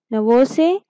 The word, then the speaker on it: Novosibirsk: Novosibirsk. Pronounce it Novosibirsk.